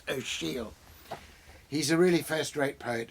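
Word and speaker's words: Ó Siadhail: amazing poet it's spelt like this is like ocad hale but it's actually pronounced oh she'll he's a really first-rate poet and he's he's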